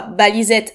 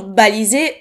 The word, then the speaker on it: balisette: Il semble que en français cela se prononce au féminin, soit balisette de T-E et non balisé E-T.